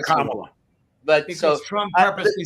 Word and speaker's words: Kamala: You got to say it right first, or say it the way they want to hear it. It's Kamala. And then people get pissed